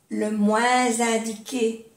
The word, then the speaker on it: moins indiqué: Le moins indiqué, que se hace la unión con la S y suena como una Z.